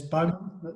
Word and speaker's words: Bowman: Yeah, Yes, Bowman.